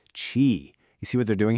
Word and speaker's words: QI: You have to pronounce it chi.